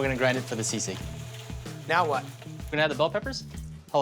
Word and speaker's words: sisig: Order up, sisig hot dog.